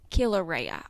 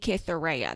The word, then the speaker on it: Cytherea: It's Cytherea, but because I can't read and I listen to a lot of audiobooks, the audiobook narrator says Kilauea. She's not saying Cytherea. There's no th sound when she says it.